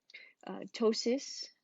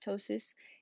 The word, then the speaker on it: ptosis: Ptosis, the P is silent. Ptosis is eyelid drooping.